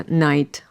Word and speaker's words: night: читати те що бачиш насправді досить складно читається це Night Light write ми маємо I як